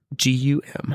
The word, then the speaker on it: Targum: So I actually, Targum. Nice. Like a mixture of tar and gum.